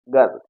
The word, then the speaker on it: girl: यहाँ पर देखिए, GIRL, गर्ल, ऐसे आप इसको गर्ल पढ़ते हैं, लेकिन ये गर्ल सही प्रोनाउंसिएशन नहीं है, इसको क्या पढ़ेंगे? गर्ल। क्या पढ़ेंगे? गर्ल। यहाँ देखिए GIRL, अब यहाँ पर आर जो है, आर बीच में आया है और आर के ठीक बाद क्या है?